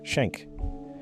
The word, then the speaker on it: Schenck: At the Minnesota Regional Sleep Disorder Center, a neurologist named Carlos Schenck, pronounced Schenck, began seeing a series of elderly men referred for violent behavior during sleep.